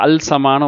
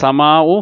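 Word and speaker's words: السماء: அப்போ யாருமே வந்து அல் சமானு ஓதுறது இல்லை. அப்படி தானே? என்ன சொல்கிறது, இத சமாவு ஃபத்தரத். சரிங்களா? குரான்லாம் நம்ம ஓதுறோம். யாருமே இதழ் சமாவு ஃபத்தரத் அப்படின்னு ஓதுறது இல்லை. அல் உச்சரிக்கப்படக்கூடாது.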